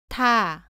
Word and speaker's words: 타: 발음은 다와 비슷한데 공기를 더 많이 내면서 소리 냅니다. 따라해 보세요. 타, 타.